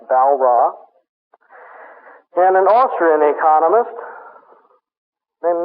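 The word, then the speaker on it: Walras: Val ra w a l r a s pronounced Val ra and an Austrian Economist named manger me G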